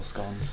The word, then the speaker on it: scone: Did he say scones or scones? He said scones, which is the correct pronunciation. Is it? Yeah. Oh, really? Scone is what they say further down the country than Sheffield.